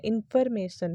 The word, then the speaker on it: information: Correct pronunciation होता है इंफॉर्मेशन। ये जो फॉर है ना, इसको फॉर मत कहना, से इसको फर कहना। सो इंफॉर्मेशन is correct and इंफॉर्मेशन is wrong.